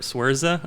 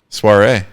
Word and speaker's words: Saoirse: So I think most people would pronounce that Ladybird. Swerza or something. Soiree. Ronan. Soiree.